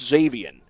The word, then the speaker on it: Xavian: They don't pronounce the X in his name. It's just Xavian.